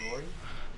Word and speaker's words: Lore: It's pronounced Lori.